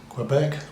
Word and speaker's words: Quebec: port of Montreal in Quebec province of Quebec in Canada French Canadians say Quebec not Quebec um yes so anyway